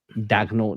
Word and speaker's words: Daigneault: Mark Daigneault. Daigneault, that's it.